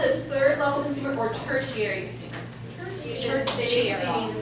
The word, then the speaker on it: tertiary: So it's called the third level consumer or tertiary consumer. They basically mean the same thing. Tertiary. It's spelled T-E-R-T-I-A-R-Y.